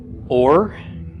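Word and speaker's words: אוֹר: followed by a race so the olive is silent Vava Coulomb is a long o sound the race is an R so this would be pronounced or or means light okay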